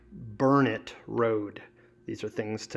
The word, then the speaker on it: Burnett: Burnett is pronounced Burnett Road.